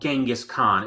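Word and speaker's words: Dschinghis Khan: genghis khan no no the group is called genghis khan it's just spelled in a different way but it's pronounced genghis khan yeah it's probably the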